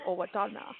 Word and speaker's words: Owatonna: I want to go to Owatonna. And I'm impressed that you're saying it correctly.